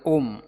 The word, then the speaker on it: Om: So in Sanatana Dharma, it is Om, Auma. When it is pronounced fast, it becomes Om.